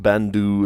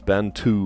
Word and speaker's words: Bantu: Bantau, not Bandu, it's Bantu with a T.